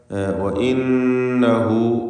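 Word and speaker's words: وَإِنَّهُ: വീണ്ടും നൂൻ മുഷദ്ദദയെ മണിക്കുക. വ ഇന്നഹു ഹാ ദ്വമീറിന് 2 ഹറക്കത്തിൻ്റെ അളവിലുള്ള മദ്ദുസ്സിലത്തി സുഗ്റ നൽകുക.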